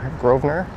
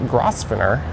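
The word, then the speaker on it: Grosvenor: So, Grovener ends just at Young Street straight ahead or Groner, but it certainly isn't Grafiner. We are heading north.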